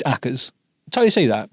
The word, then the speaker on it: Ackers: terms of the pronunciation, so my family pronounced my name acres. Yeah, I can totally see, when you look at my last name. It's acas, until you see that, right?